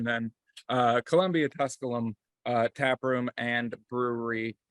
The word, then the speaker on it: Columbia Tusculum: here in there I'm gonna mess this up Columbia Tusculum oh you got it oh I got it that's how I pronounce it at least there we go I'm gonna go with your pronunciation then uh Columbia Tusculum uh tap room and Brewery uh we are